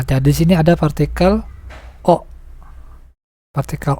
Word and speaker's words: を: Nah, jadi di sini ada partikel O. Partikel O ya. Nah, ini walaupun wo, namun dibacanya O. Khusus untuk partikel ya.